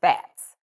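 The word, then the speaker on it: Phatz: My nickname is Fats. Fats? Yeah, and I spell it P-H-A-T-Z, Fats.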